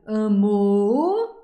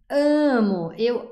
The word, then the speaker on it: amo: Donc tu ne vas jamais dire eu amo, tu vas dire eu amo, c'est là la syllabe forte, ok?